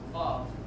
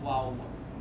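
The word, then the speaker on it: וָו: Next letter of the alphabet is vav. Can you say it again? Vav. So it's got a V and not a Yeah, W. it's not wow, it's vav.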